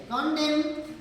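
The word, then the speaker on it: condemn: antonyms में कंडेम कंडेम यहां पे एन जो है साइलेंट है कंडेम रिप्रोज डिनाउंस मतलब होता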